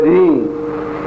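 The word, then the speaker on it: ह्रीं: फिर है रींग, इसमें ग की ध्वनि है, रींग।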